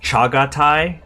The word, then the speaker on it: Chagatai: Oh, it's pronounced Chagatai? Oh, my bad.